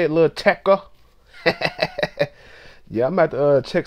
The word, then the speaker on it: Lil Tecca: And that's how you say it, Lil Tecca.